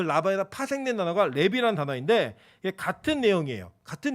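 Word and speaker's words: לֵוִי: 이 레위라는 이름이 히브리어로는 레비라는 발음인데 달라붙다, 연합된 이런 뜻이에요.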